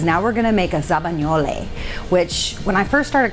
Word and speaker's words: zabaglione: Because now we're gonna make a zabagnole, which when I first started culinary school, I called it zabaglione, which please don't kill me, the Italians out there. Zabagnole is how you say it in Italian.